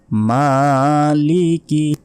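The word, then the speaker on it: مالك: অসীম দয়ালু তারপর মালিকি মালিকি এ মাতে এক সেকেন্ড টেনে পড়তে হবে মালিকি ইয়াওমিদ ইয়াওমিদ দ্বীন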